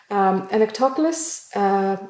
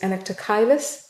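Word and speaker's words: Anoectochilus: Anectoculus, or sometimes pronounced as Anectochilus as well.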